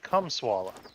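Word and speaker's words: Kamala: right come on it her name is not that hard to pronounce come swalla that's it CIA there but what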